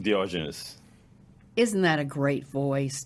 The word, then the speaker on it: Diogenes: And I have one today, Yuri, pronounced last name. Diogenes.